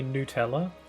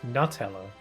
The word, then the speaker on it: Nutella: Like how some say Nutella. What the hell is Nutella? It's Nutella. It's literally made out of nuts.